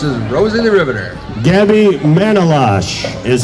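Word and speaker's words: Manolache: daughter laura dressed as rosie the riveter gabby manolash is how you say her name gabby manola i had to ask her gabby manolash running for congress in district three and she's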